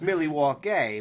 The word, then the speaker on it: Milwaukee: And it's actually pronounced Milwaukee, which is Algonquin for the good land.